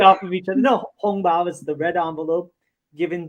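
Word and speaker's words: 红包: How do you pronounce this? Hongbao.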